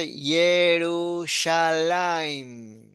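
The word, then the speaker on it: ירושלים: Y es la que aparece en las canciones y todo eso, Yerushalayim. Con acento en Ujú. la lamed. Yerushalayim.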